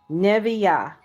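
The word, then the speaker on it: נביאה: So, it's spelled NE V I and then it has that little I don't know what you call that thing. I forgot. But anyway, it has that little accent mark or whatever. And then it has ah. So, it's neih.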